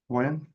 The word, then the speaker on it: Carwyn: CARWYN.